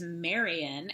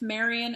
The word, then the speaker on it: Marion: and she's the librarian yes it rhymes and there's a whole song about it rhyming uh they actually rhyme the word carrion which is like roadkill with marion and librarian so there's some choices